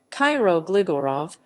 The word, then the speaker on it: Kiro Gligorov: cairo gligorov cairo glegor of macedonian cairo gligorov pronounced cairo gligorov listen may 3 1917 january 1